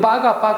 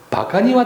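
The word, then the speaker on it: バカ: 우리는 빠가 하죠. 근데 원래는 바카입니다.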